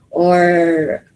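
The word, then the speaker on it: を: uh tohono this one the character wo but it is pronounced as o okay so it is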